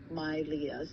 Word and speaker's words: Milea: like, for my names, the way how it's spelled, it's split into two names, so then it makes it looks like Leah, it's the middle name. I see. However, the name is Mylia, so the full name is Mylia.